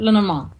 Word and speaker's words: Lenormand: Lenormand. Okay, that's right. There's so many different ways I've heard them say it. Yeah, Pronounce it.